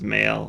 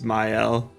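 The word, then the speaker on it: Maelle: I thought it was male. I guess it's myel.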